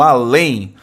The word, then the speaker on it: além: Não só o termo além recebe acento por ser oxítono terminado em EM, mas também aquém. Isso é verdade, né? Então, sílaba tônica é a última, né?